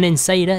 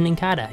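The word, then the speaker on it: Nincada: But that's fine, that's a Ninkada. I'm very sure that's how you pronounce that Pokemon. Not an Insada, it's a Ninkada. You put a K on the C, I think.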